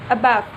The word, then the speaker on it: about: for example the word about consists of two syllables a and back when native English speakers say this word the first syllable a is pronounced quickly and weakly and then the second